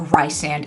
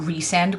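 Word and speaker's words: Rhysand: Although I will tell you, I am a Rysand and not Resand girl, so that should tell you everything that you need to know.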